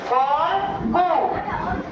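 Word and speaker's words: ফল্গু: তারপরে লয় গ দিয়ে আমি কি করেছি নতুন আরেকটি শব্দ উচ্চারণ করে দেখিয়েছি, ফলগু, ফার সাথে ল উচ্চারণ হবে, তারপরে গরস করে গু, ফলগু। আর এইখানে দেখো ফাল্গুনি, আমি একটু দেখলাম তোমরা খেয়াল করো কিনা যে আমি ভুল লিখেছি, কিন্তু খেয়াল করোনি।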